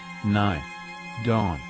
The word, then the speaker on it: Nidden: I'm pretty sure it's meant to be pronounced, Nye. Dawn. But this text-to-speech program does it wrong.